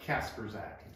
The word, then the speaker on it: Kasprzak: do you say that casper's act think of it this way casper the ghost carrying a sack okay okay it's not